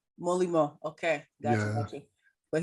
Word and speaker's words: Molimau: People call it Molly or Molly. Yeah, so How do you pronounce? it's How do you pronounce your real name? How do you pronounce it? Molly? No, Molly. Molimo.